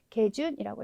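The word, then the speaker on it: 下旬: 카라는 발음을 가지는 경우가 많지만 의외의 경우에 개라고 하는 발음도 가지기 때문에 꽤 많아요. 의외로 많은 경우에 읽으셔야 되기 때문에 개준이라고 읽어주시면 되겠습니다.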